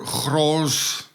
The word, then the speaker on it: Grolsch: We have Heineken, an international conglomerate that also owns a lot of other brands, and Grolsch, or Grolsch in the Dutch pronunciation.